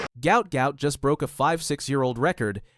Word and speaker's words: Gout Gout: His family name was originally transliterated as Gua or Guat, but now Gout Gout, pronounced to rhyme with pout, is the name the world knows, and it's becoming one that track and field will never forget.